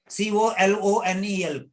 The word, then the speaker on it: colonel: C-O-L-O-N-E-L, colonel. It's not colonel, it's colonel, R, colonel, R silent, colonel. But many people say colonel.